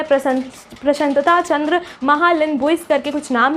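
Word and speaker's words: प्रशांत चंद्र महालनोबिस: ठीक है, इनका नाम मैं पूरी तरीके से यहाँ पे आपको दिखा दूंगी, फुल नेम, जिसको प्रोनाउंस करने में थोड़ी दिक्कत होती है। प्रशांतता चंद्र महालनोबिस करके कुछ नाम है, ठीक है, कोलकाता से रिलेटेड है।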